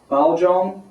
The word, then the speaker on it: Pouchong: front of us today is a BAL Jong which is the Chinese the you know Mainland Chinese pronunciation uh my Taiwanese is not as good I think it's Pang Pon is the pronunciation there uh this is